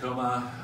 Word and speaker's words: Choma: again thank you time coma spelled with an H but pronounced coma the I'm just a